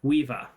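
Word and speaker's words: Caoimhe: to pronounce it I just asking how to pronounce this word yeah um so that's yes c a o i m h e weeva there you go okay let's call it there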